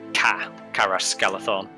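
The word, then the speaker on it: Caras Galadhon: So in Elvish, C is always pronounced like a K. So it's like a harsh sound, like Carasgalathon.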